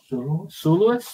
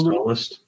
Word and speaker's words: Solist: No, it's Solist. It is Solist, isn't it? Yeah. Did I say Solist? I did say it right. Yeah. Soloist. No. Right, anyway. It's not. You would think it might be Soloist because they name a lot of their whiskies after musical things.